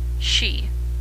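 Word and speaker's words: し: the word for for she is the same as the word for death 9 pronounced ku can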